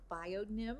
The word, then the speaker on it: Bionym: today Carl Martin from biion Nim am I saying it right that's correct and we're here today